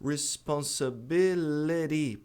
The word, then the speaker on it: responsibility: Responsibility.